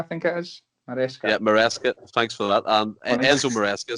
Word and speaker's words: Maresca: Yeah, Maresca.